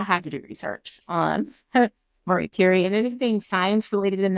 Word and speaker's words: Marie Curie: Like, I didn't know who Marie Curie, I don't know if I'm saying her name right.